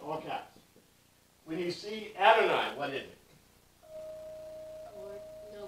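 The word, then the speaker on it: אֲדֹנָי: The pronunciation in Hebrew is Adonai.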